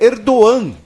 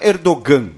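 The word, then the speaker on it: Erdoğan: nome segundo hênio o o g com circunflexo em turco ele tem uma pronúncia Muda então o nome do líder turco é erdogan não é erdogan É erdogan então enfim a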